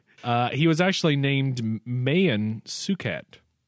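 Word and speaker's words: Maewyn Succat: It or Not uh he was actually named Mayan sukat not Mayan sucket which some people pronouncing are you serious I I mean it's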